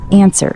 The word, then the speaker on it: answer: Answer, silent W, pronounced answer.